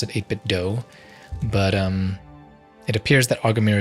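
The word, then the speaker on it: 8BitDo: I believe they pronounce it 8-bit DOE.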